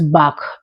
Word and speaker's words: Bach: The right pronunciation is Bach.